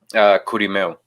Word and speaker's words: Kurimeo: Kurimeo.